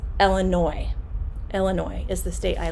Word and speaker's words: Illinois: like this illinois so illinois has an s on the end but we do not pronounce it it is not illinois it's illinois illinois is the state